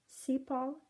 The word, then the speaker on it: sepal: Sepal, S-E-P-A-L.